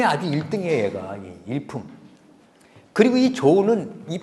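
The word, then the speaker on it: 潮: 1등이에요 얘가 일품 그리고이 조는이 파도는 조라고 읽어요 조 근데 원래 파도 우리가 조수 간만의 차이 그러잖아 그 자인데 이거를 조정 조정할 때 그 당대의 조정에서 할 때 이때의 조자 같이 읽어요 우리가 박쥐를 편복 있데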